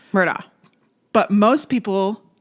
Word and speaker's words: Murdaugh: it Alec instead of Alex yeah and then Murda is spelled m u r d o u g h right Murda but most people not all not everybody a lot of people said Murdoch Murdoch and I'm like I where where where is